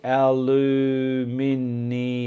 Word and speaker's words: aluminium: says Laura fair enough I'm Scottish Laura we say our loo meanie um it's good how